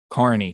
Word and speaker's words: Kearney: Kearney Nebraska Tap Room Kearney I believe is how they pronounce it spelled like Kearney Carney Tap Room um I